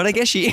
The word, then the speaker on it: Regachi: R-E-G-A-C-H. C'est pas S-H-I. Comme Ouais. ça se prononce? C'est ça, Regashi.